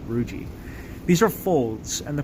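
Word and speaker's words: rugae: that wrinkled texture there it's called ruiji ru GAE think of it like it like pronounced like algae but ruiji these are folds and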